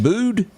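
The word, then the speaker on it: Bude: You pronounce that Bood?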